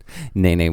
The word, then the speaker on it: Nene: like well just felt like Nene crossing names naynay which is the Hawaii State Brit young and it is pronounced Dana that's right can we just say